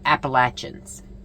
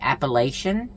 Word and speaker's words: Appalachian: Some people say Appalachian, which I was one of them, and then some people say Appalachin. I believe that's how they say it. But it doesn't matter which way you say it.